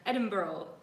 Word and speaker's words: Edinburgh: We're growing up without borders, and today we are going live from Edinburgh, Scotland, or you say here, Edinboro. That's how they say it.